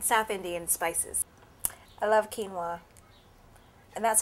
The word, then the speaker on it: quinoa: I love quinoa and that's how you pronounce it in case you've never heard of it before.